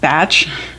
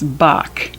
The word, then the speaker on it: Bach: a book called Bach I know it looks like batch but it's Bach the H is silent it's by an Rocklin